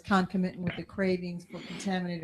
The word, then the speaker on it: concomitant: So concomitant, is that concomitant? Is that sort of British pronunciation? Don't we say concomitant?